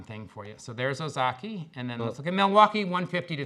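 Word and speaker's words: Ozaukee: one and show you Jeff how do I pronounce this one this is Ozaki Ozaki boom there's Ozaki right there and then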